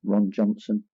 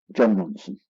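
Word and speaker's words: Jon Ronson: I always get his name wrong. John Ronson, Ron Johnson. John Ronson.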